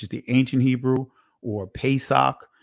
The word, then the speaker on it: Pesach: Now, I know in the Israeli it's pronounced Pesach, but when you go to the primitive root of this word, you'll see Pasach.